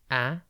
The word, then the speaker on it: aberration: It's pronounced aberration, and it is spelt A-B-E-R-R-A-T-I-O-N. Think aber and then ration.